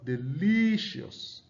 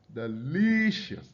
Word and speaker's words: delicious: Now you have delicious, delicious, you can see the li sound there is stressed. The syllable li is stressed.